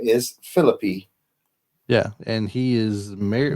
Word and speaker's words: Phillippe: And no, people, when you read his name, I know we would normally pronounce that as Ryan Philippe. That's how we think it's pronounced. It's But Philippe.